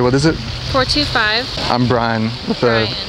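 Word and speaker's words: Brixan: is it 425 I'm Brian with a x Brian with an X the x is silent though you don't pronounce it here I'll call you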